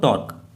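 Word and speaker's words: tau: ये सिंबल इसका है टाउ, इसको टाउ बोलते हैं। ठीक है, ग्रीक लेटर है ये, टाउ सिंबल है। कुछ लोग इसको टो भी बोलते हैं, लेकिन हम लोग टाउ बोलेंगे, टाउ इसका करेक्ट प्रोनाउंसिएशन है।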